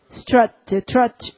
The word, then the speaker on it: trot: roar에다가 st를 붙였으니까 stroll 해야겠고, 그 다음에 터벅터벅 걸으면은 trot 이렇게 읽어야겠죠. 유가 왼통 자음에 둘러싸여 있으니까 뭐라고 발음한다? 그래서 발음하면 trot가 되는 거죠.